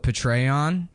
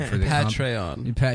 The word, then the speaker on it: Patreon: the patreon I said I used to call it patreon like General patreon yeah that's how I thought you pronounced it and then somebody